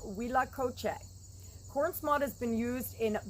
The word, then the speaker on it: huitlacoche: also known as mexican truffle and it is pronounced wila coche cornsmod has been used in both north and